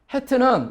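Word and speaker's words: חית: 제가 이제 중동 사람들에게 발음을 보니까 이 해트 발음 같은 경우는 마치 무슨 가래 끓는 소리가 나는 것처럼 해트 이렇게 발음을 해요.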